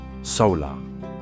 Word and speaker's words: Saola: The saer, pronounced solar, is one of the most mysterious large mammals on Earth.